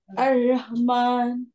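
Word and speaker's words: الرحمن: ধাক্কাটা বুকের থেকে আসতেছে বুকের থেকে না দিয়ে গলার থেকে ধাক্কা দেন আর রহমান আর রহমান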